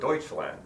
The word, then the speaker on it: Deutschland: for three years except the Germans don't call it Germany they call it Deutschland and they don't call